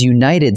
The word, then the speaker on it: united: A united team also takes a, because united starts with a Y sound, like you.